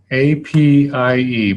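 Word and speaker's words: APIE: planning implementation and evaluation and it's known as ap ie pronounced a PI assessment is the first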